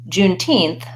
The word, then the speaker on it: Juneteenth: happy Juneteenth everyone and the pronunciation follows the rules that are true for numbers for example Juneteenth from June 19th and not 19th 19th and when I'm saying that June 19th I stressed June and my main stress